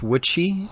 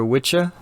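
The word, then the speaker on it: wicce: here they're healers witches comes from the old english witchy or witcha it's w-i-c-c-e is how you spell it right and it it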